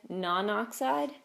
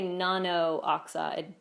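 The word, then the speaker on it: nonoxide: about any charges tetraiodide non oxide so we wouldn't say Nono oxide because then we'd have two o's there and it'd be hard to pronounce so you leave out the one non oxide if we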